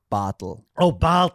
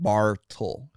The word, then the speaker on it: Bartl: the hardest thing is in america that usually people want to pronounce the r but i have an r in my name but i don't pronounce it i say bottle bottle but it's not bar tall okay bottle yeah bottle